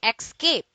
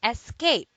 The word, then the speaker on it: escape: dates to escape escape don't say escape do say escape it is a verb